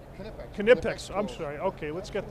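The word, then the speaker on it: Knipex: pronounce the cas the the Germans pronounce the k absolutely so it's always kex kex but your organiz ation how do you pronounce your company's name kex kex I'm sorry okay let's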